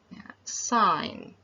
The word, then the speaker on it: sign: is pronounced as sine the g letter is silent sign and then the next